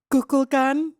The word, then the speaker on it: Kukulkan: K-U. K-U-L. K-A-N. Wow. Okay, how would you say that? Kukulkan.